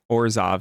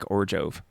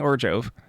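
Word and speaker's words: Orzhov: I'm not sure when, but I forgot where I got this from, but someone said that Orzov is not pronounced with a Z, it's pronounced with a J, like Orjov.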